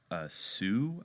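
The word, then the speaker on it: Szou: And he married, in 1961, he married Sue, I think, but it's spelled S-Z-O-U, who is previously known as Susan Cynthia Schaefer.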